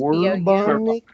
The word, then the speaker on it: Bourbonic: I want to say it like bourbon because it's Bourbonic.